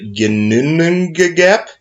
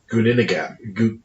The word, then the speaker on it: Ginnungagap: everything started in perfect silence, perfect darkness, the Ginnunga Gap. How about you spell it? Yeah. Ginnungagap. May I see it? Yeah. Give it a shot. I'm the type of person that has to read it. Gunninagap.